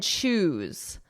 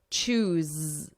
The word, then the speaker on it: choose: Let's compare goose and choose. So the vowel is the same. It's the same as lose, ooh, goo, chew. But it's the difference between that S, the unvoiced, and then the Z, the buzzing, the voiced. Goose, choose, goose, choose.